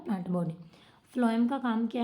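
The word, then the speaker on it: phloem: और फ्लोएम, फ्लोएम को हम, ये पी एच है ना, तो पी एच आप प्रोनाउंसिएशन इसकी करोगे, एफ लिखोगे ना फ्लोएम, और एफ से ही फूड हो गया फिर आपका वो, ठीक है बच्चे।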